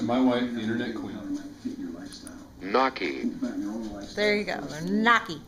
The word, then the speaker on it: gnocchi: Thanks to the power of the internet, we now figured out how to pronounce this thing. Thanks to my wife, the internet queen. Gnocchi.